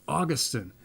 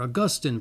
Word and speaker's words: Augustine: this day we have St Augustine or Augustine perhaps depending how you want how depending upon how you want to pronounce it there was a theologian